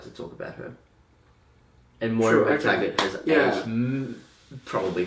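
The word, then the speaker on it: Moira MacTaggert: Moira McTaggart, however you say that name, That's exactly how you say it.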